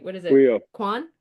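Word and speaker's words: Quyon: Quan? Quion?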